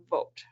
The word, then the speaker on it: Vogt: Vote. Just like go out and vote. Go out and vote. But the G really Vote. throws me off. It is V-O-G-T. Yep. The G is silent.